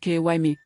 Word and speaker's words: Kemi: Just 3 stalls away from Oge's thriving empire sat Kemi, pronounced Kymi, watching her own business wither like a plant deprived of rain.